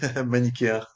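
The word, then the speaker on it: manichéen: Est-ce que c'est le mot euh manikiaire ? Manikia. C'est le seul mot où le CH on le prononce comme en anglais.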